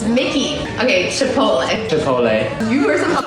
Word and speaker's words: Mickey D's: Where's the M-A? Yeah, I don't think we can give you guys that one. That's an American company, and you guys are pronouncing the letter totally differently. It's Mickey.